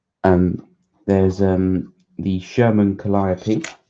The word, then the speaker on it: Calliope: um the sherman calliope which i think is how you pronounce it it's have some people pronounce it and i can't think of any other way you would because it's based off the um the pipe organ i think well the